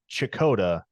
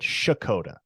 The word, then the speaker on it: Checotah: Okies who informed me that it is not chicota but shakota so Dakota yes shakota kind of like you